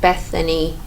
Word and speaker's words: Bethany: channel my name is Beth um I don't know why I say it like that it's kind of like Bethany Bethany that's how you say my name because no one calls